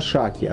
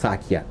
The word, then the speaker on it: Шакья: мы бы сказали, мудрец из рода Шакья, да, или Сакья, более правильно говорить.